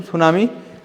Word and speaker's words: tsunami: अगर हम देखें तो इसमें टी शब्द साइलेंट रहता है, तो टी सुनामी टाइप लिखा रहता है, उसको टी साइलेंट है तो उसको हम सुनामी से ही समझेंगे।